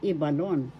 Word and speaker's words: Ibalon: that's from the region how do you pronounce First syllable e second syllable ba third syllable balon first syllable is where the accent is ebalon that's a bicolano epico